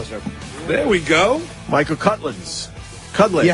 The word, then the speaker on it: Cudlitz: Michael, I think Cudlitz is how you say it.